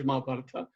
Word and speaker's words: Mahābhārata: focus on the Mahābhārata, or Mahābharat in Hindi, we pronounce Mahābharat, in English Mahābhārata, what has happened, at